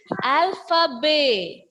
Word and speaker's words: alphabet: T is a consonant letter, so that will be silent. And the pronunciation of the word is alphabet.